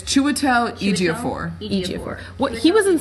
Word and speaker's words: Chiwetel Ejiofor: He was in Help me something pronounce else. his name. Cheadle. It's Chiwetel Ejiofor.